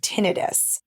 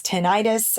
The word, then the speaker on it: tinnitus: sudden onset of a pretty bad case of tinnitus now some people pronounce this tinnitus I have been corrected by my doctor the